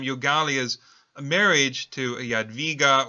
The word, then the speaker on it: Jadwiga: a marriage to a Jadwiga, or Hedwig is the other way in which her name is pronounced, a princess of Poland.